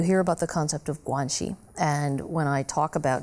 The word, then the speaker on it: guanxi: You hear about the concept of guanxi, and when I talk about various aspects... Spell that.